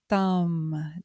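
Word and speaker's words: TĀṂ: So Tārā’s seed syllable or bīja mantra is TAAM T Ā M, the long A and other like Avalokiteśvara’s HRI, H R I and so on.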